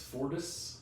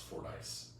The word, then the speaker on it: Fordyce: we're saying but um he says it's Fortis and I'm pretty sure it's pronounced Ford ice like I have four dice let's play craps even